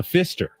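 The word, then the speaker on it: Pfister: won't stay at the Fister it's with a p silent p is silent woods it's not the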